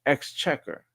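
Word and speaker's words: Exchequer: Exchecker.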